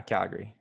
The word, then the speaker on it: Calgary: city Calgary like like if you're from Calgary Calgary you don't see Calgary or Calgon oh no yeah Calgary push it together Calgary yeah anyway there's